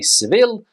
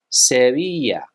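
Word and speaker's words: Sevilla: destination here in Spain in English we would say sevil but in Spanish seia SE keeping in the south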